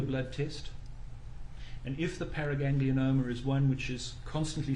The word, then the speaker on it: paraganglioma: doctor just for clarification is it is it pronounced paraganglioma or paraganglioma I always I often add in the extra vow so it's a parag paraganglioma sorry thank you thank